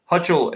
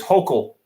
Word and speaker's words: Hochul: Hutchel is is Hochul. Jackie says, sorry, I know I mispronounced a lot of words. Hochul, that's what it is, for the governor of New York.